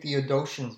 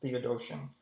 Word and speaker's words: Theodotion: Looks like for Susanna, you get the Old Greek, or you can read Theodosian's version. I think that's how you pronounce it. think it's pronounced Theodotion.